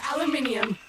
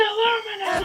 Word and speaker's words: aluminum: More aluminium. Glorious! It's pronounced aluminum.